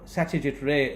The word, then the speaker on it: Satyajit Ray: asia shraddha jithrai or satyajit ray as his name is pronounced sometimes in the west there was an indian